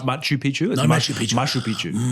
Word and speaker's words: Machu Picchu: Um, one of the main things we learned, um, was about Mashup Pishu. Um, how it was built or how to say it even. I mean, that's how you say Mashup. Not Machu Picchu.